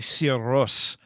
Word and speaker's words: Sigur Rós: Well, no one in America says their name right either. It's actually Sigur Rós. Sure. Is how you would say it in Icelandic.